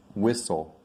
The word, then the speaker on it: whistle: important for my students sometimes the letter t is silent some people call it a silent t when it comes in the middle of a word like whistle there's a lot of